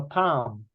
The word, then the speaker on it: palm: hand is called the Palm so we write it p-a-l-m but the L is silent Palm normally is